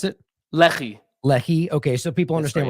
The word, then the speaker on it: Lehi: the pronunciation so there's no confusion I said Lehi but how did you pronounce it Lei Lei okay so people understand we're talking about